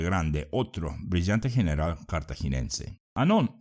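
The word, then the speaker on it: Hannon: otro brillante general cartaginense anón se escribe h a nn o n y ahora veamos una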